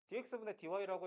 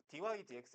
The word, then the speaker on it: dy dx: 근데 글로벌하게 생각을 하면 dx dy라고 읽으면 외국애들이 무시한다고 dy dx 이렇게 읽는다고 알겠지?